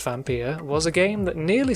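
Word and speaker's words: Vampyr: all things Vampir and yes it is pronounced vampire was a game that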